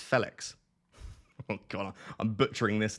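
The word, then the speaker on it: Félix: pronounced the same as the Fe in feather Felix so it's Felix God I'm butchering this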